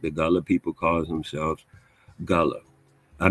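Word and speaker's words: Gullah: The Gulla people calls themselves Gulla. I mispronounced I know I'm correct.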